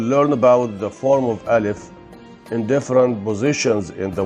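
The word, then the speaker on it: ألف: today is alif alif alif is pronounced like a in above when it carries a hamza alif is pronounced like a in care when it doesn't carry a hamza in arabic world can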